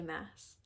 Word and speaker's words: Maas: Next we have Throne of Glass by Sarah J. Maas. It rhymes.